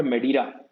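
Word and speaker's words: Madeira: रखना चाहिए, next one इज a river called मेडीरा। मैं स्पेलिंग यहाँ लिख देता हूँ आप लोगों के लिए, MEDEIRA, मेडीरा, ठीक है।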